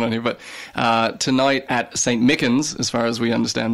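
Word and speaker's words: St. Michan's: But tonight at St. Mickens, as far as we understand, that's the pronunciation.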